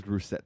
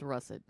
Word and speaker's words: russet: you use I use brusett potatoes brusett a is that how you pronounce it I don't know is it you say no it's russet russet yes Russell Russell is there